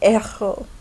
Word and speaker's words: héros: Le héros has an aspirated H, so we pronounce that H, le héros.